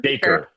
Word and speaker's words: Dacre: Can you talk about casting like Barbie and how do you pronounce his name? Dacre? Dacre? Dacre.